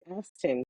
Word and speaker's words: Aston: And make sure I have Aston, correct? Pronounce it for me. And she said it right the first time, y'all.